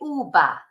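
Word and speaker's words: uva: laa sometimes people say uba they pronounce a v like a b but they're not supposed to really but anyway there'll be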